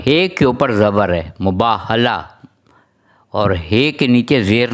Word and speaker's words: مباہلہ: اللہ الرحمن الرحیم۔ دیکھیے، ہم لوگ عموماً جو لوگ صحیح تلفظ سے نہیں بولتے ہیں، مجھ سمیت ہم لوگ لفظ استعمال کرتے ہیں مباہلہ، یعنی ہے کے نیچے زیر نہیں ہے، زبر ہے۔ میم کے اوپر پیش مباح، بے کے اوپر زبر ہے مباح، اور ہے کے